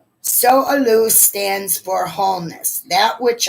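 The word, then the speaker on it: Sowelu: get some more advice s-o-w-e-l-u like just so so aloo so aloo stands for wholeness that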